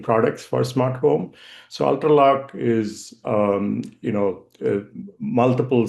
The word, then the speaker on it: Ultraloq: So Ultralock is um you know multiple smart locks that we deliver to the market.